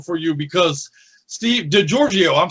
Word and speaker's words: Giorgio: so uh i guess if you just try a little less and just say the giorgio georgio like georgia yeah if you took